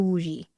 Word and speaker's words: Wuji: No, it starts with the wuji. A is pronounced the Wuji is W U J I.